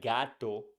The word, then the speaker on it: gato: pronounce like hidano and for words like gato Gordo and guante you pronounce g like G in go we say gato Gordo